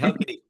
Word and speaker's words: Halkidiki: Now, we just wrapped up here our Greece trip in Thessaloniki and I can never pronounce either of those very well. How So Kibiki. Hel- How Halkidiki, Kibiki. Halkidiki, Halkidiki.